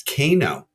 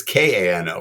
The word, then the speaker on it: Kano: It could be CAN-O, but really it's Kano.